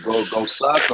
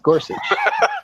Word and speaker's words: Gorsuch: Go suck or Gorsuch? Go suck. I like that. No, it's Gorsuch.